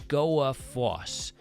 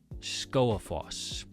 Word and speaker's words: Skógafoss: followed by a vowel, the G is not pronounced. So, we'll break this one down. We've got Skó a foss. Skógafoss.